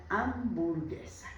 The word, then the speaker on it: hamburguesa: Don't forget that we don't use the H. The H is silent. Una hamburguesa.